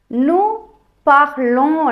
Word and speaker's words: nous parlons: il parle, elle parle, nous parlons என்று உச்சரிக்கணும். சில பேர் nous parlons என்று உச்சரிப்பீங்க. கடைசியில் வர எஸ்ஸையும் சேர்த்து உச்சரிப்பீங்க. அது தவறு.